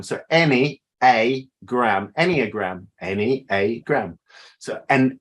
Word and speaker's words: Enneagram: m e a but how we pronounce it is any as in any old any old iron um any any uh any a gram so any a gram Enneagram any a gram so